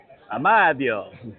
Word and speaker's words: Amadeo: The way that he pronounces it, it's the Italian. Oh, Amadeo.